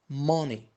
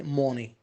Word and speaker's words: money: Money. Don't say money. Ma. Between O and A.